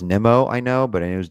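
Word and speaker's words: Nimmo: from going you know it is pronounced Nemo I know but I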